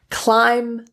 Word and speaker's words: climb: And a lot of words that end in B are often mispronounced. So here are the top B silent words. Climb, debt, doubt, dumb, subtle, thumb.